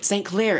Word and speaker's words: St. Clair: St. Clair, it rhymes with Blair.